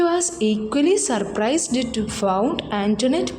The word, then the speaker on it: Antoinette: But കുഞ്ഞിച്ചിരുത learned from Antoinette that the name ought to be pronounced Antoinette.